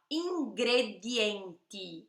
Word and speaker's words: ingredienti: Ingredienti, olha o D e o T, D e T.